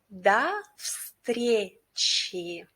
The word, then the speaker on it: до встречи: I also would like to pay your attention that in the first word we pronounce letter O like A. And for easier pronunciation, try to pronounce letter F instead of letter V.